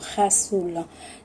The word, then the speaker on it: Ghassoul: Donc, je vous parle aujourd'hui, ça s'appelle Gazoul. J'espère que je prononce bien, mais très souvent on prononce Rassoul.